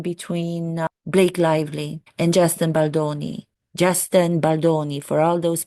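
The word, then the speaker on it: Baldoni: between these two actors it is not Justin balani read his freaking last name it is Justin baloni it is pronounced as it is written baloni give me a break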